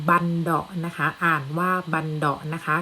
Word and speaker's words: บัณเฑาะก์: ก็ คือ กลอง บัณเฑาะว์ นะ คะ อ่าน ว่า บัณเฑาะก์ นะ คะ ก็ คือ กลอง เมื่อ สอง หน้า